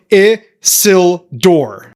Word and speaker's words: Isildur: It's pronounced IH-SIL-DUR or Isildur.